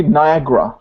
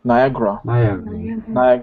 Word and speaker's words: Niagara: Okay, and Niagara, or how to actually pronounce we this? say Niagara. Niagara. So that sorry, the second A is not really pronounced.